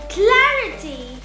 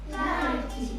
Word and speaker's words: clarity: When we come across words ending in ity or ity, we put the stress or place the accent before the syllable. For example, ability, Ability, capacity, capacity, generosity, generosity, sensibility, sensibility, charity, charity, clarity, clarity, trinity, trinity, electricity, electricity, university, university, speciality.